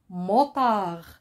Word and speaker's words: motard: répéter hurler là un motard un mot par celui qui monte sur la moto comme les gendarmes par exemple c'est un motard il se termine ce mot se termine par la lettre d une lettre mais aussi